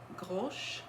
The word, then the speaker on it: Grosche: tea online from a company called Grosch, and it's spelled Grosche.